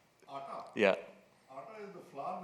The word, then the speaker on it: AATA: It's not very sexy, but if you pronounce it as ATA, which means what in Hindi, Pranav? Atta.